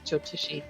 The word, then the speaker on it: Jyotishi: Yep, Jyotishi.